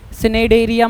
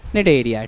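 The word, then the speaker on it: Cnidaria: सी silent है भाई, सिनेडेरिया मत बोलना, नीडोब्लास्ट या निडेरिया, ठीक है।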